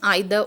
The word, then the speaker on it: either: Next is either or. This is a fifth correlative conjunction. Either or, again you can pronounce it as either or as well.